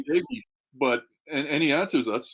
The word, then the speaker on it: Doege: Is it Doge? Well, we say Doege, but and he answers us, so let's go with that.